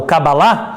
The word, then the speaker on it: Cabala: judaísmo é cabala porque palavra cabala o kavala é o jeito certo de pronunciar significa receber saber o